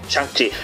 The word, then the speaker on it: Shang-Chi: Shang-Chi, bien pronunciado, señores.